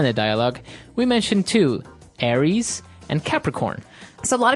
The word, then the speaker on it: Aries: And so it's pronounced Aries.